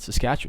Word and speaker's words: Saskatchewan: Saskatchewan. But if you just sound it out, you can spell it. Sask At, chew, and.